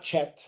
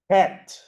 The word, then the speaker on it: Het: This one is called, not Chet. It's called Het. Like my name. My name starts with this letter. Het. So kind of like not pronunciating the Z. The Z, What do you mean? just H-E-T, het.